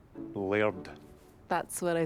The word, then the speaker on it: Laird: It was a gift from the Laird of Glenrothy to the people in the village. He donates one every year. Does this layered, whatever that is, not like the villagers?